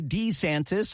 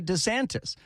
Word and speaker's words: DeSantis: two different ways you sometimes say d santis and sometimes say DeSantis so you need to make up your mind as to what your last name is and how to pronounce it Hey Joe I have